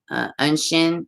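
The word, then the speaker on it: Oisín: Ashiana's pronounced Unshin, and it means little deer.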